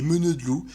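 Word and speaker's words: meneur de loups: très connu dans le Berry, on a les meuneux de loups, et parce qu'avec l'accent berrichon on ne prononce pas le R final.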